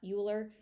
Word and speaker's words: Euler: Be careful to pronounce that Euler, not Euler.